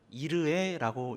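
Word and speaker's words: יראה: 이래가 히브리어로 음역하면 이르에라고 읽을 수 있습니다.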